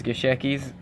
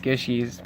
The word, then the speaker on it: Gishki: She tells me to call this Gishekis. I know how to say it, it's Gishkis, but just had to add that in as a disclaimer.